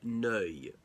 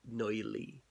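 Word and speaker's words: Neuilly: a district of Paris again the Treaty of no which the Allies signed with Bulgaria now know is spelled n e you I double l why but not pronounced knowingly some people think so the Paris peace treaties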